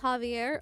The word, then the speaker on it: Xavier: Xavier in Spanish, that's pronounced Javier.